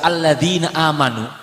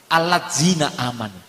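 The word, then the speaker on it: الذين آمنوا: Nunu kita bertanya membaca alladina amanu ketika kita bertanya ke mah Google itu nyunceyu tulisannya itu kalau yang orang awam membacanya bukan alladina amanu allina amanu loh iya ini kan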